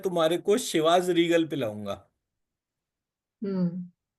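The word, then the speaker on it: Chivas Regal: तो चिवस रीगल में वर्तनी C-H-I थी, न कि S-H-I। हम्म। इसलिए मैंने तुरंत इसे आपस में जोड़ दिया क्योंकि एक आंतरिक संवाद हमेशा चलता रहता है। मैंने कहा, "ओह, मैंने वहाँ जो 'ची' पढ़ा था, वह 'ची' नहीं, 'शी' था।"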